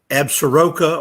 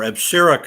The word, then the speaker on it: Absaroka: And so the boundary, the attacking is an A that is pronounced two ways. Absaroka or Absarica is the way I was taught to pronounce it.